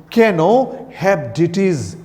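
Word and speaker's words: Caenorhabditis: ये लिखा हुआ है आर यहाँ पे, बट इसको हम लोग कहते हैं कैनो, आर का प्रोनाउंसिएशन नहीं होता है, हेप्डिटिस।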